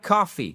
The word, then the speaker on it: coffee: Donc, par exemple, I like coffee. Coffee, accentuation sur la première syllabe.